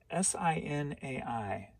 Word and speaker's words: Sinai: to mount god why can't i read better s-i-n-a-i cindy cinna new york somewhere up there in